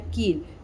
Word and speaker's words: कील: नहीं करना होता है और जब हम लोग बड़ी ई बड़ी ई की मात्रा को पढ़ते हैं तो उसमें हम लोगों को थोड़ा वो स्ट्रेच करना होता है लाइक जैसे मैंने यहां पे लिखा है कील तो उसे कैसे प्रोनाउंस करेंगे कील लाइक उसमें थोड़ा की पे वो थोड़ा लंबा आपको स्ट्रेच करके बोलना होता है तो आप ऐसे एक